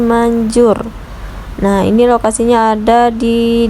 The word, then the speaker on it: Mandjoer: ya guys di maps itu tulisannya manjur pakai ejaan lama ya guys ya ada djnya untuk rasa mie ayamnya